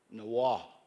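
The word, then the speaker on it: Niwot: it in iowa but there is a arapaho word for for for niawa can somebody help me nawah is the true way to say his name now that was his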